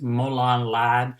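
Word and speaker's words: Molon labe: he misspelled mola I I don't know about pronunciations molan lab it's m o l o n l a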